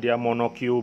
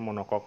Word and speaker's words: monocoque: uses a monocoque body how to pronounce is monoQ body but I often hear Japanese angler mention monokok.